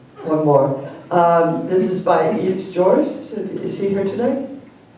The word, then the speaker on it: Yves: This is by Yves Joris. Is he here today? Am I saying his name wrong? Okay, Yves.